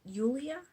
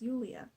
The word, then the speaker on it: Julia: at the church also julia is actually pronounced yulia i think that's what everyone was saying was yulia like wow i was